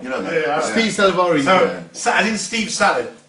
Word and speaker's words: Salvari: Steve Salvari. In pronounce the L properly. S-A-L. Salvari.